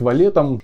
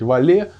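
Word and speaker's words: valet: шан че он работает валетом или picker точнее правильнее было бы сказать воле французское слово окончании читается и в один из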